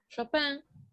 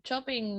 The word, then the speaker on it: Chopin: de origen francés y el apellido que se usa como escritor es su apellido de casada que es japan pero si ustedes lo pronuncian chopin no hay ningún tipo de problema bueno chopin nació en